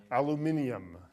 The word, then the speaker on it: aluminium: one or the other just like here in america we say aluminum how is it pronounced in great britain aluminium okay i'm sorry aluminium